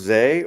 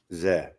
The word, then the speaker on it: Zé: Is it pronounced Zé or Z? Zé. Okay. Zé. Yeah, that's how I say. So Zé is like Joe. It's a nickname for.